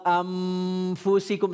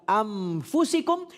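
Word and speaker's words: أنفسكم: Tetapi amnya tidak menutup bibir, tidak merapatkan bibir. Jadi bukan begini. Bukan begini pemirsa. Wa anfusikum salah, tapi wa anfusikum. Jadi masih ada aliran udara yang keluar dari mulut, bukan amfusikum tapi anfusikum.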